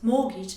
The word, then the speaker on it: mortgage: Okay, this word here is pronounced as mortgage and not as mortgage. It's because it comes from a French word, mort, which means death, and gage, which means pledge, thus death pledge.